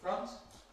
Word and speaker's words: front: Then at the top front you can see that front rhymes with hunt front. something that the spelling conceals from you.